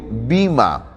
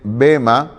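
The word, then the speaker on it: βῆμα: Es bueno recordar que la expresión tribunal viene del griego bima. Algunos a veces dicen bema, pero más ahí me gusta pronunciar bima, que también es válida, cualquiera de las dos formas de pronunciarlo.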